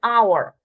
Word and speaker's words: hour: Our, H is silent, so we use an hour, right?